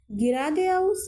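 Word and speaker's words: geradeaus: links মানে হচ্ছে নাক লিংকস মানে হচ্ছে বামদিকে গেরাদে আউস গেরাদে আউস গেদে আউস যারা হচ্ছে প্রথম প্রথম রিডিংটা পড়তে সমস্যা হচ্ছে আপনারা বানান করে পড়বেন হ্যাঁ আপনাদেরকে তো যুক্তবর্ণগুলো শিখিয়ে দিয়েছি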